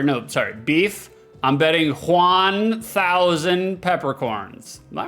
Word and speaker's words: Juan: Juan is the only one who really understands himself. After all, it takes Juan to know Juan. I'm going to go out of my way to pronounce Juan like uh not like one.